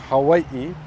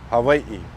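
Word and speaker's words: Hawaiʻi: you'll hear a variation it's either a w sound like Hawaii or it's a soft v sound Hai nowadays I hear a lot of Learners they'll say kind of like a hard V uh pronunciation of the W but you won't really find that among native speakers it's either Hawaii W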